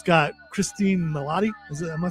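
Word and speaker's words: Cristin Milioti: And uh it's got Christine Melotti.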